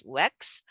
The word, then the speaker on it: UECS: And then I could see the protocol now named as UECS, pronounced as WEX.